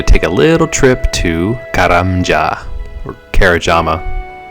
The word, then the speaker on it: Karamja: So now we get to take a little trip to Karamja or Kerajama. I I used to call it Kerajama and that's not how it's pronounced, but that's just how